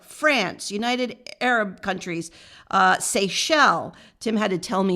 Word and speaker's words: Seychelles: zealand dominican republic france united arab countries uh seychelles tim had to tell me how to pronounce that seychelles it's a thousand miles off the west coast